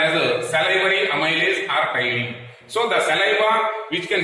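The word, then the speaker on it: ptyalin: as salivary amylase or tyline. So the saliva which can release one special kind of enzyme is called as salivary amylase or tyline. P is silent here, tyline.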